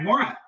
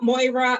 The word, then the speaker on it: Maura: All right, Maura. Hi, everyone, and hi, class of 2024. My name is Maura, not Moira. I know it's spelled Moira like Moira Rose, but it rhymes with Laura.